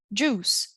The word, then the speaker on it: juice: Então, eu não pronuncio a letter I. Eu não falo fruit. Fruit. Juice, suit, cruise.